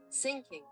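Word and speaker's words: syncing: Sinking. Sinking. Sinking. Sinking. Without either of you noticing. Same as sinking.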